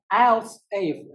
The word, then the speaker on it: elsif: But the else if in Ruby, yes, you can pronounce it like else if, but please note that the spelling is different. It's ELSIF.